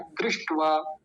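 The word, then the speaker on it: दृष्ट्वा: वकार है आकार है दृष्ट दृष्ट नहीं बोलेंगे दृष्ट टवा टवा ट आधा है दृष्ट वा देखिए पहले इतना दृष्ट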